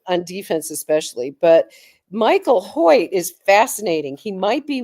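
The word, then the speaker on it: Hoecht: How do you pronounce that? It's like Hoy.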